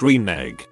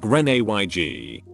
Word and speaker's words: renege: I've only ever heard it pronounced renege. Rhyming with egg. As a Brit, I'm kinda confused by this. We say it more like Reneyg.